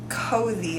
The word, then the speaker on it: Cozi: one that I use is cozy I think is how you say it or COI it's c o z and it has like